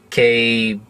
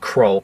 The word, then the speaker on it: Krall: And it's mostly surrounding the Idris Elba, God, I hope I pronounced his name right, the villain Krall, K-R-A-L-L, not Kroll, Krall, where apparently apparently his whole plan is to fight back at the Federation for something they did.